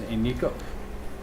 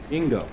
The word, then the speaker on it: Ingo: You said his name was Inigo. Inigo. Inigo? I-N-G-O. I- Ingo? Ingo. Ingo. Ingo is how I suppose we can pronounce that? Igno. Ingo. Ingo the drover.